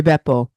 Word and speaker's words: Beppo: Buca di Beppo. Buca di Beppo. The Beppo. B-E-P-P. Not Peppo. You're talking like Peppo Bismol. Buca di Beppo. Two B's.